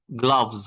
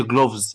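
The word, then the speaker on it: gloves: صوت تاني صوت حرف الجي، الجي بنطقها ج جوت، ج جلافز. خد بالك الاو هنا بنطقها جلافز، ما تقولش جلوفز.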